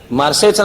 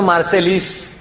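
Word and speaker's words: Marseille: सालचा ते मार्सेच्या बंदरामध्ये ते जर स्पेलिंग बघायला गेलं तर स्पेलिंगचा इंग्लिश उच्चार होतो मार्सेलिस पण मार्सेलिस नाहीये ते मार्से आणि मार्से हे फ्रेंच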